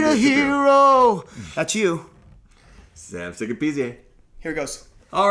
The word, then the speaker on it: Sikapizye: Sikapizye is good. Sikapizye? Sikapizye. Is it PZA or is it Pizye? Zye. Yeah. They call it Zye.